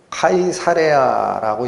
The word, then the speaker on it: 카이사레아: 총독 관저가 있는 데가 가이사랴예요. 가이사랴는 어디서 나왔다? 가이사. 로마의 황제 이름이죠. 그래서 원래는 카이사레아라고 읽힙니다. 카이사레아. 레아라는 것이 뭐예요? 영역이죠. 우리 에어리어 할 때 영어로. 그래서 가이사의 땅이라는 뜻이에요.